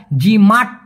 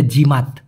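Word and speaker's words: jimat: বক্সে উত্তর দিয়েছি ভাই ওটা জিমাট মানে টটা উচ্চারণ না করে বলতে হবে জিমাত জিমাত মানে হচ্ছে খরচ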